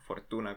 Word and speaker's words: Fortuna: Fortuna, eh, yo digo Fortuna porque así es como normalmente se pronunciaría en japonés, pero bueno, Fortuna como le guste más.